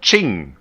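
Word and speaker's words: Qing: King China right here or Ching China as you should pronounce it but you know for for every Western person its King anyway what are we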